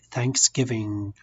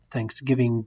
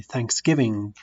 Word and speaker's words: Thanksgiving: read them ng like Thanksgiving we do not pronounce the G with an Aussie good don't I say Thanksgiving get this is wrong we say Thanksgiving like among all right